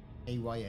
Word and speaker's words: Aya: A-Y-A, that's how I pronounce it.